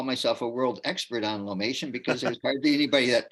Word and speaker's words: Lomatium: Most people pronounce it Lomatium. Oh, okay. Um, and and the I could say a lot about it. And I could call myself a world expert on Lomatium because there's hardly anybody that tries.